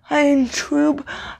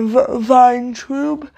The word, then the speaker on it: Vayntrub: I looked it up, and like it showed the phonetic pronunciation, and from what I could tell, it was pronounced Milana of Vin or Vayntrub, and she is the actor.